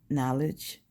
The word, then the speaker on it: Naledge: His name is Knowledge, but it's spelled Naledge.